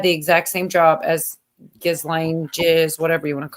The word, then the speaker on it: Ghislaine: They say Ghislaine. Just for laughs, I'm just telling you that's how they pronounce it, Ghislaine. right, like something silent or whatever.